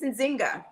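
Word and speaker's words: Nzinga: show yeah it's nice to be here so pronounce your name for us it's in zynga it's zynga oh that's easy to pronounce i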